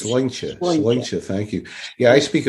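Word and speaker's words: sláinte: It's spelled Slainte. So a lot of people say slante, but it's wrong. It's Sloincha.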